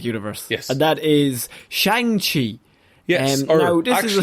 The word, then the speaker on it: Shang-Chi: Simu Liu tweeted out pronunciations, and it's actually Shang-Chi.